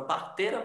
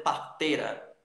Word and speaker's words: parteira: por exemplo, na palavra parteira, você pode dizer parteira, parteira. O i, como tem um som fraco, você joga ele fora, na fala, ok?